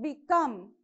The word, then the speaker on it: become: second prefix is b so become so come see you have to stress more on this okay you have to use force on the second syllable become beloved beneath so this